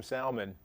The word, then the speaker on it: salmon: Salmon, Why are you saying salmon instead of salmon? because that's how you pronounce it here. Oh, where I come from, we say it differently. I know. There's an L in That's it. why you left there. There's an L in it.